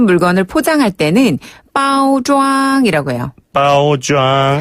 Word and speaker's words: 包装: 빠오장. 한 번 더. 빠오좌. 빠오장. 네. 포장이라는 그 한자 그대로를 중국식으로 발음하게 되면 빠오좌이고요. 예. 발음 조금 비슷한 편이죠.